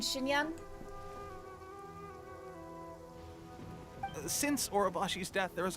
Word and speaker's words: Xinyan: I'm guessing it's just a localization thing, because we pronounce the X as a sh in people's names too, like Xiangling and Xinyan.